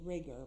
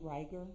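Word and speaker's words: rigor: you started to see I thought you said riger but isn't it ryer ryer mortis uh there's debate on the pronunciation okay so riger Morse or ryer Morse however you want to pronounce it you took a look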